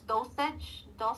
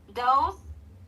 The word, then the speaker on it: those: Make sure you don't say do these. What? Those dosage. dosage dosage. So those those so be careful.